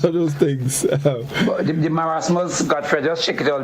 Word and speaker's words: marasmus: Marasmus. They say marasma, but it's marasmus.